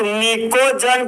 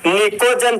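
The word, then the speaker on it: pnictogen: नाम है आपका दोस्त निकोजन फैमिली। निकोजन फैमिली, जहां पर निकोजन का जो दोस्त आपका फर्स्ट लेटर जो आपका पी है वह आपका साइलेंट होता है।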